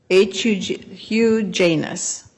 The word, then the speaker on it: Hugh Janis: It's spelled H-U-G-H space J-A-N-I-S. Hugh Janis, which sort of sounds like a weird other word.